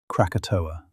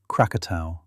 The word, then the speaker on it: Krakatau: Krakatoa, or Krakatau, which is the more accurate Indonesian pronunciation, though both names appear in the historical literature, and both refer to the same place, more or less.